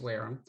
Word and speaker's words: Wareham: town of whereum england it's pronounced whereum um and i wrote